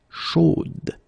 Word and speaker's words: chaude: change a little bit, chaude. So here you pronounce the final d, whereas in the masculine form you don't pronounce it.